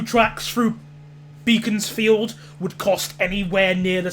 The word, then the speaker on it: Beaconsfield: It's pronounced Beaconsfield. Well, sorry! Sorry about that, jeez. I've pronounced it both ways, Beaconsfield, Beaconsfield, but, you know.